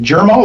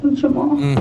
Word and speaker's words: Jamal: Is it Jeral or Jamal? Jamal.